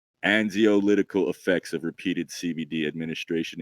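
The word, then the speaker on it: anxiolytic: ] right there bro I'm gonna say angio lytic it has to do with anxiousness right but you probably say it like a Z and zio litical effects of repeated CVD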